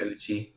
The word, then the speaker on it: Uchi: Uchi? Yeah, Uchi.